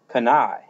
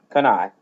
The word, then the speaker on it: canaille: going to get it started with the word kana. Now you look at the spelling of that and Lord knows I struggle with the spelling of this one all the time but canai.